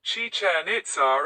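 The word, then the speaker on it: Chichén Itzá: The name is spelled Chichen Itza in Spanish. And the accents are sometimes maintained in other languages to show that both parts of the name are stressed on their final syllable.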